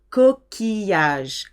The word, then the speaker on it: coquillage: Shell, I-double-L, is an E sound except for ville and mille and village. Coquillage, coquillage, it's masculine.